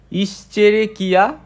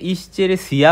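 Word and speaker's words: Escherichia: ইসেরে কিয়া কোলাই হ্যাঁ আমরা অনেকে এটাকে ইশেরেসিয়া বলি বাট এটার আসো উচ্চারণ কিয়া কে হ্যাঁ কিয়া এরকম ওকে এখন আসা যাক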